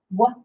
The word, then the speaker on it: one: And then the word one, one, which is kind of a tricky one. One's not really a word that we want to sound out because it's spelled different, huh?